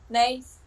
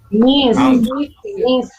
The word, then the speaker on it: niece: Nice. Thank you. What's the pronunciation for number 3? Niece. Niece. Que me dicen nice. Yo les estaba diciendo que no me vayan a decir nice, ¿verdad?